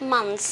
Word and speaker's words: month: There are 12 months in the year, so let's study about them. This is month. Remember the TH here, so month, tongue between your teeth, month.